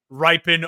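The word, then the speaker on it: Rypien: Ripon.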